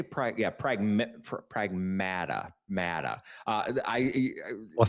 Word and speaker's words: Pragmata: Before launch I I would say pragmatada, right? Like when you when you see the title of this game, I'm like pragmata. No, pragmata. Uh because that's how they say it in the game.